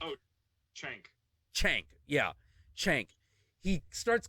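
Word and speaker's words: Cenk: And there is a point, I can't pronounce the name of the main Young Turks guy. Czech? Oh, Chank.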